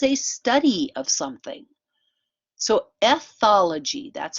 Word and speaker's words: ethology: So ethology, that's how you pronounce this word.